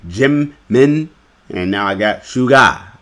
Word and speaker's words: Jimin: Just like I got Jinmin wrong. At first I called him Jinmin. Now I say Jimin, and now I got